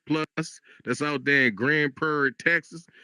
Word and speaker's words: Grand Prairie: Grand Prair, you got to say it like that. You got to say Grand Prairie. See, that's how they know if you a local. If you if you just say Grand Prairie like a regular person, they be